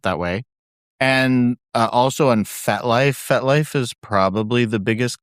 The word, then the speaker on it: FetLife: FET, like fetish. Oh, fet. Life. Life. Got it. I was thinking fet, like French for a party.